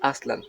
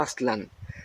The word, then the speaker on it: Aztlán: aztecas salidos de aztlán dije atlante no aztlán recuerden que las palabras en agua se pronuncian como esdrújulas y entonces no podemos aceptar al final las palabras como si estuviéramos hablando en castellano entonces es importante que